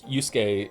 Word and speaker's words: Yusuke: I think I think uh you are right though like Yusuke is has a silent letter. Yeah. And we say Yusuke properly, don't we?